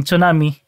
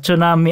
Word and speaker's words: tsunami: Science By the way kung napapansin niyo tsunami ang pagkasabi ko at hindi Tsunami dahil Tsunami yun yyung correct na pronunciation dahil Japanese word ito yung Tsunami Ano yun American na pronunciation yung tama talaga ay Tsunami Anyway going back very